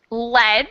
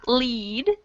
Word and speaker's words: lead: exactly okay and the pronunciation difference here is lead the first one to lead so short vowel sound in the first sentence and long vowel sound lead in the second all right let's keep